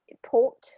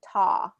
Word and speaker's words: taught: then um taught again that was more of like a tort taught when i when i heard you and that's more of that british english yeah and and for american english it's going to be taw taught like talk walk yes so those same